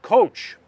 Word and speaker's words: txotx: vintage is released during the TXOTX season, pronounced coach figure. Of course it is. And here's the deal. During the coach season, people flock to